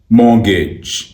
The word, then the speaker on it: Mortgage: इस वर्ड की सही प्रोनाउंसिएशन है मॉर्गेज, मॉर्गेज, मॉर्गेज, मॉर्गेज, मॉर्गेज, मॉर्गेज, मॉर्गेज, मॉर्गेज, मॉर्गेज.